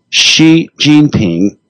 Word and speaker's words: Xi Jinping: describing the uh president of China and it's pronounce his name one more time for me Xi Jinping XI jingping Jean Ping's close to piece okay